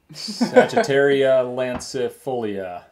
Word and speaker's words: Sagittaria lancifolia: How do you pronounce that? Sagittaria lancifolia.